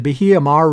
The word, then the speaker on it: Bahia Mar: down to the biha the hiamar resort that's pronounced properly the bahia mar resort which is where they're holding the thing